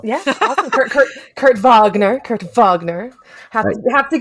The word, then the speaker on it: Wagner: Kurt Wagner so yeah awesome Kur Kurt Kurt vogner Kurt vogner have have to give it have